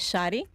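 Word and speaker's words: Shary: right what's your name hello my name is shotty shotty shotty like that's your government name is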